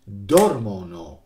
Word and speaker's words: dormono: Dormono questi qua, with the accent on the first.